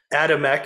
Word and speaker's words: Adamek: But this is Katherine Reutter to me, but Katherine Adamek, is that how you pronounce it correctly? Yep.